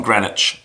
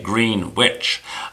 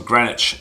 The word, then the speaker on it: Greenwich: And he's from Greenwich, or as the Americans say, Greenwich. But he's from Greenwich in the UK.